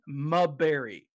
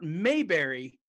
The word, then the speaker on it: Maberry: guy who writes this his name is jonathan mubbery not mayberry mubery right i pronounced when i first saw it i thought